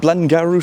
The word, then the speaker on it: Garw: I think it's pronounced Garw, something like that.